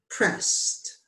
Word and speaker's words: pressed: If a suffix is not pronounced separately, it is not a separate syllable. In other words, pressed, pressed, dropped, dropped. That's all one syllable, isn't it? If it is not pronounced separately, it is not a separate syllable. It's not pressed, dropped. No, it's one syllable because we pronounce it all together as one.